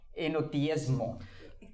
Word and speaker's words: enoteísmo: En el Nuevo Testamento tienen esta creencia de enoteísmo. So this is Genoteísmo. there's no H behind the T. Eno is silent H. Ah, silent H too.